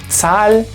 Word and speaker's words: Zahl: Esas combinaciones se leen como tz, como una T y una S juntas. Tz. Entonces, por ejemplo, este se lee Zahl, Setzen, Rechts.